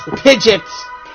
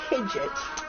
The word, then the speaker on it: Pidgeot: Okay, and that's how Pidgeot's name's pronounced. It's supposed to be pronounced Pidgeot. Pidgeot.